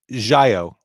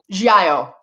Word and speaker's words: giallo: And again, it's giallo. Giallo. I'm not going to say what I was saying, but I promise you I've been mispronouncing that my entire life.